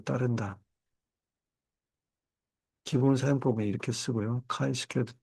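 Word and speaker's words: chi-squared: 카이 스퀘어드. 그래서 CHI를 카이라고 읽고 스퀘어드 SQ를 따가지고 실제 그 함수도 CHISQ로 돼 있어요.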